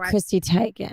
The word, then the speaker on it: Chrissy Teigen: Chrissy Teigen.